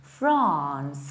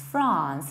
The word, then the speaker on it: France: to have a British accent, you should say France, France, not friends, as I usually hear, friends, friends, but France, there is long R, France.